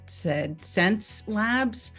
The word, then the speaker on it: Xencelabs: So how do you pronounce our name? It's called Xencelabs.